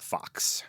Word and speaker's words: Fuchs: I think uh of the Americans that I know who have this this name, F U C H S, prefer to be called Fox.